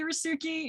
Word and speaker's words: Resuki: steeped in spanish culture so yeah i say rasuki it's literally nonsense that i made up at